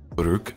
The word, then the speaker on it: Baruch: Yes, Baruch. Okay. Yes. Because that, God, I can never pronounce that name.